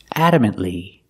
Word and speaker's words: adamantly: let's talk about pronunciation adamantly adamantly the T in adamant is a stop T adamantly you put the tongue up but you don't release and it's not silent I cannot say adamantly it's